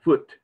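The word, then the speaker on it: Phut: Sometimes it's spelled P-H-U-T, a foot.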